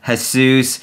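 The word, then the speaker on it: Jesús: totally playing around here the correct pronunciation should be latina her sous or her sous oh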